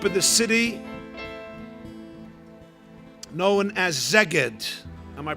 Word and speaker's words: Szeged: Some of you know it as Sigit, but you know how it's spelled? S-Z, right? E-G-E-D, I believe. Emes? So those who don't know Sigit, Nebach, pronounce it in other ways.